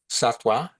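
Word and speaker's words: sattva: Satwa s a t w a. Sometimes it's spelled s a t va but pronounced www.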